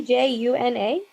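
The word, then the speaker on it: Djuna: D J U N A.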